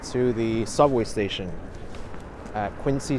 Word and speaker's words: Quincy: the subway station at quiny Center or quinsey Center even though I know the pronunciation is hard to break the habit well good we